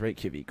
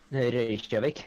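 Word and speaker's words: Reykjavík: Like everyone says Reykjavik wrong. Reykjavik. Yeah, it's technically that.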